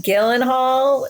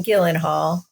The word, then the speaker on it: Gyllenhaal: I realized is that there's Maggie Gyllenhaal, and that's with a hard. I think it's G, Jill. Right? I think it's Gyllenhaal. Yeah. Gyllenhaal. Okay. Actually, I've heard the most correct pronunciation is Gyllenhaal. That's not even a bit. Like that's like I don't believe you. Like the real Swedish pronunciation.